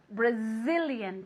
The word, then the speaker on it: Brazilian: this very good Brazilian Brazilian careful with that Zedge okay it's like a little B Okay Brazilian moving your vocal cords one more time very good Brazilian okay with an accent on the eye Brazilian very good one